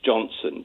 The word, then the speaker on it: Jonson: And we should note his name is Johnson, but it's spelled Jonson.